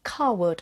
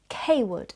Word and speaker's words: Cawood: He was initially exiled firstly to York and the archiepiscopal residence at Carwood, or Cawood as some people pronounce it.